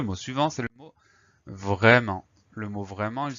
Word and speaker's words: vraiment: Donc on fait attention à la lettre muette, le T.